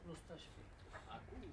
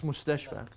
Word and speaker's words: المستشفى: Why it's not mustashfi? No, it's mustashfa. That, if you ever see that, that's called alif maqsura, meaning short alif.